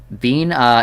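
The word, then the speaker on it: Binah: either but good one bean uh is how it's pronounced I see judgment bird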